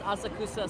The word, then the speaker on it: Asakusa: from us cusco and that's a kusa for foreign tourists it's Asakusa so i pronounced it the way it's announced but it yeah that's